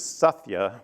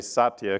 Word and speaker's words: Satya: Nadella became CEO and the right pronunciation is Sathya but I'll say Satya cuz that's the way most people say his name but Satya has really